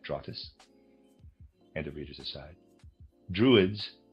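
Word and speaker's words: Drotes: And that's readers aside, that's spelled dr o tes. I am pronouncing that trotus.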